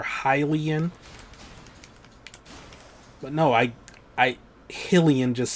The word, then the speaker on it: Hylian: Like, I know it's Hyrule, and the people that live in Hyrule are Hylian.